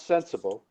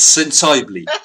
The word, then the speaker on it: Sensible: They mispronounce sensible. Yes, sensibly, Mr. Sensibly. Sensibly.